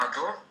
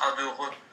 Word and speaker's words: adore: Le E تاع adore muet ما ينطقش. même في الهضرة النورمال كي نقولوا adore ما نقولش adoreux نقولوا adore.